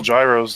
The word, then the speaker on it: gyros: That's why most Greeks up here, if they sell gyros, they still call them gyros. Yeah, because they don't want to turn off customers or anything. It's not the correct way to pronounce it, but yeah, that's what everybody knows.